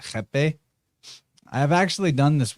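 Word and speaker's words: rapé: It's spelled like, it looks like it's spelled rape, R-A-P-E, but they pronounce it jepe.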